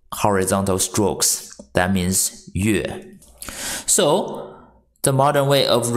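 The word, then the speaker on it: 月: The pronunciation for moon is yue. Y-U-E, fourth tone.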